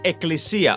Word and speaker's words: Ecclesia: by the way this this is pronounced as Ecclesia okay they type it with two okay this is written with two C's because I believe that English people have an issue pronouncing two k's in a row I guess Ecclesia means